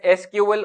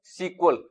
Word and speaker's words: SQL: is structured query language it is pronounced as SQL or sometimes SQL it is a programming